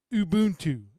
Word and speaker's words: Ubuntu: there's a lot of them I use or Ubuntu is how you say it so what ended